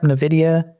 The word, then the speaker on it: NVIDIA: Yep, NVIDIA.